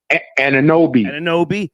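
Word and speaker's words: Anunoby: Anawabi? Ananobi, small forward.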